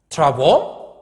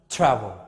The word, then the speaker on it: travel: go to another one can you pronounce travo or you pronounce travel travel so travel the wall